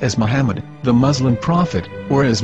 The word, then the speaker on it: Muhammad: after the H according to Ben yehuda's Hebrew English dictionary it is correctly pronounced as Muhammad not mammad so how we're going to know for sure if it's pronounced as Muhammad the Muslim Prophet or